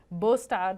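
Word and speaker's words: Båstad: Palermo some of the men are up in bostad which is how you say that word up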